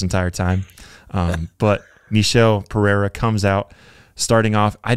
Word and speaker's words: Michel Pereira: the middleweight, that division, talking about Michel Pereira, I think is how he pronounces his name. Apparently I've been pronouncing his name wrong this entire time. But Michel Pereira comes out.